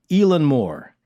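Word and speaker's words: Eilean Mòr: the pronunciation right but somebody who's actually scottish louise palmer told us elon moore so i think i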